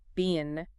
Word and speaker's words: been: But that past participle, been, oh, that's often mispronounced. How so? Emma stresses it's pronounced like bin, like a trash bin, not bean, like the vegetable.